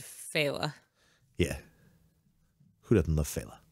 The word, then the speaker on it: Fela: seen uh jackass because we gotta talk about feyla or or fella i can't not read fella but every time i see it because of hella no because it's spelled kind of that way i see fila feyla that's the the audiobook said fella yeah who doesn't love